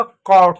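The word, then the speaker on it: caught: अब जो जी एच टी है इसमें जी एच हमेशा साइलेंट होता है। हम सिर्फ टी को पढ़ते हैं। तो हो गया टी। तो क्या हो गया? कॉट हो गया।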